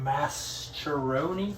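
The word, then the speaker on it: Mascheroni: going to be using is called the Euler masteroni constant uh I'm not sure how you pronounce that um but it's spelled m-a-s-c-h-e-r-o-n-i so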